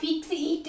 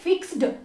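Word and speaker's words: fixed: आप इसको कैसे पढ़ोगे आप फिक्स इट नहीं बोलोगे आप बोलोगे फिक्स्ड यानी की इसमें ए साइड हो गया ध्यान से देखो मैं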